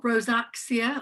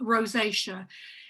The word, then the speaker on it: rosacea: yeah good point so rosacea that's the way it's pronounced not rosacea or rosaxia or whatever or even acne rosacea that is an uh an incorrect term rosacea it's a chronic and